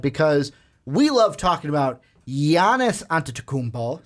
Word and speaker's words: Giannis: Because we love talking about Giannis Antetokounmpo. See, I didn't do the hard G. Yep. I didn't give you the Giannis. No, it's Giannis Antetokounmpo. No Giannis here.